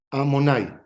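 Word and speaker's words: Adonai: Se escribe de una forma y se lee de otra forma, ¿verdad?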